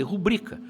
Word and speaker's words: rubrica: é o lugar correto Você sabe quem diz pública está cometendo um erro de prosódia fazer deveria dizer rubrika claro que é o